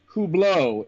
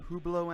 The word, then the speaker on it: Hublot: I believe it's pronounced I believe it's pronounced who blow it's a it's a